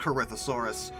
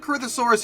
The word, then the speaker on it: Corythosaurus: a problem come on corythosaurus or sometimes corythosaurus depends who you ask I guess I believe it's pronounced corythosaurus these were Hadrosaurus with